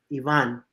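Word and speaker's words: Iván: Charlotte has to sign I have been right Yvonne right if you're looking to pronounce it in Spanish if you had to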